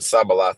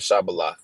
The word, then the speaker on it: shibboleth: You know, they said Sabalath instead of Shabalath, but it pretty much means the same thing.